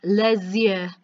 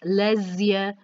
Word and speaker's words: les yeux: And this sounds as if it's all one word, but how you say it for eyes is les yeux. So it flows into one sounding word, les yeux.